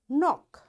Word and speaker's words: knock: You see, in all these words, because K is there and right after K there is N, that's why this K is silent, right?